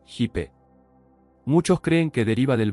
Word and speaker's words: hip: Significado metafísico de los hippies, la palabra inglesa, hip, significa cadera, la pronunciación fonética es hipe.